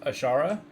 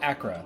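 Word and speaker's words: Achra: also that a uh path of ashara or what is it called path of Acra that's how you pronounce it I had to look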